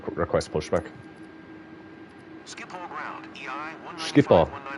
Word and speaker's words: Schiphol: Schiphol ground, EI Schiphol. That's how you pronounce it. I was pronouncing it Schipnol.